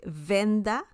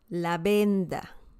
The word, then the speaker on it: venda: a perfect pronunciation then remember that V in Spanish is B okay La Benda La Benda okay bandage